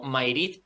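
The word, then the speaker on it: Mayrit: Sí, es como, bueno, de hecho ellos lo conocían no como Madrid, sino perdón, como recopilamos un día, como Mairit o Maguerit, que es como lo pronunciaban ellos.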